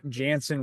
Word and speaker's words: Jantzen: find you my Instagram my name is spelled kind of weird but it's Jansen witty j n tzen